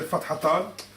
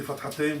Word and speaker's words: Fathatan: So Tanween Fatha, they say Fathatan, or you can say Fathatain, whichever, is the 2 short diagonal strokes written above an Arabic letter.